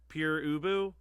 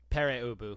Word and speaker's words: Pere Ubu: The Addicts, Smart Alex, and how do you pronounce this one on the grab and go? Pure Ubu? Pere Ubu.